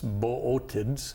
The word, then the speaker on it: Bootids: Bootids. Bootids. It looks like bids, but it's boids.